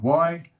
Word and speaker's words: Yvonne: So Yvonne sounds like it starts with an E, and it doesn't.